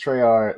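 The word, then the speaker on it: Tresr: is my brand um it's spelled capital t r e s and then um are but it's treyar like three like Tres also Trey like in the French um but I I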